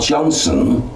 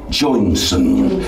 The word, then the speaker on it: Joyson: Mary, it sounds like Joyson. All right, okay. Or Johnson. Not Johnson, Joyson. That's the way it's to be pronounced.